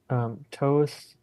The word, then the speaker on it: Thoth: Um, and so now we move on to Thoth. A lot of people have also heard it pronounced as Toth. Um, Or Thoth or something like that.